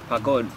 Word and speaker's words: pagod: So it's like P-A-H kind of G-O-D or something. P-A-G-O-D. P-A-G. Pa, but you go like pa.